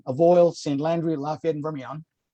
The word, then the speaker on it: Vermilion: Landry, Lafayette, and Vermilion, or Million, as I'm told, the correct pronunciation, only can apply for economic injury.